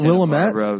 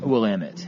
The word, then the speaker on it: Willamette: Is it not Willamette? Is that not how you say it? Willamette.